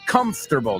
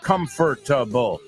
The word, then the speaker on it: comfortable: Like comfortable, not comfortable. Comfortable, 3 sílabas.